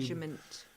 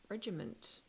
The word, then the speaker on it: regimen: since his last fight I'm assuming regiment regimen that's what Americans say regimen regiment yeah but it should be I know it's a regiment but when past T regimen no training regimen regiment his training regiment has not been on